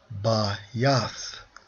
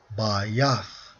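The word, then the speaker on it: בַּיִת: Pronounced as Bayath, Bayath, okay?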